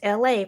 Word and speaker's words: Elay: My name is LA. Pronounced like LA like the city.